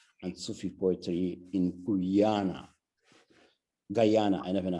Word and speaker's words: Guyana: Guyana, I never know how to say it.